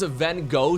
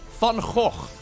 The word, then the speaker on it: Van Gogh: Okay, none of this Van Gogh stuff. Van Gogh. His name is Vincent van Gogh.